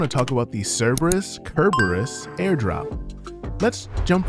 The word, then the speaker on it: Cerberus: chain launch in 2022 the cerberus airdrop pronounced kerberos will be dropped to those